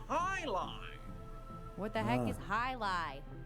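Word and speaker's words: jai alai: play against the Bellows bloodhounds the heck is Jay alive it's pronounced Highline what the heck is highlight if you don't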